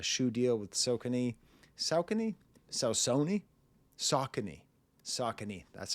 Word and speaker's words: Saucony: Saucony? Saucony, that's how you pronounce it.